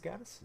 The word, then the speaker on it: Gaddis: Gaddis, I think it's Gaddis is how it's pronounced.